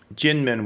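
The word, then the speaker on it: Kinmen: what in a island they call jin min which is spelled k-i-n-r-k yeah k-i-n-m-e-n in english but it's really pronounced gin and and they make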